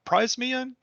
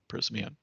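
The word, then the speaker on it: Prysmian: pronounce this is pr price me in just just kidding prisman um very good company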